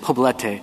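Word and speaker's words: Poblete: case State versus I I'm pronouncing it wrong p p o b l e t E Federal Law well how do you say it poete poete okay I should have said it in Spanish to start with it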